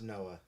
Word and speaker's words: NOAA: it says the noaa's oceanos explorer it's it's noah it's pronounced noah okay noah noah's okeanos explorer vessel has discovered